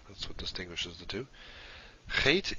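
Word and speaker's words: Het: what distinguishes the two hate is the sound or something like the sound in bach or in law is that german or scottish sound hate after hate we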